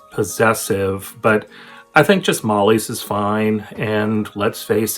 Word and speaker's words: Molly-es: How is the name pronounced? Well, I think most people just say Mollies. A few people will say Mollye S as if they're pronouncing the S in the possessive, but I think just Molly's is fine.